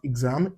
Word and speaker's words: exam: Yeah, it can also give us G as in exam. Take note of the word exam, not exam. It's pronounced exam.